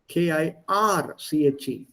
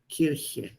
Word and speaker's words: Kirche: S is not there. Kirche. Kirche. Kirche. Please note the pronunciation. Kirche. Ich. Kirche. The other one is Kirsche. Kirsche. Die Kirsche. You add an S, the pronunciation changes, and it changes in meaning.